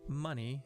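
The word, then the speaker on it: Muny: Not money. It's spelled differently.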